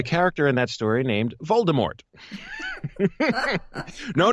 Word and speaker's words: Voldemort: But according to legend, the author's original intention was for this character to be named Voldemort. So more of the silent T, the French pronunciation, according to the legend.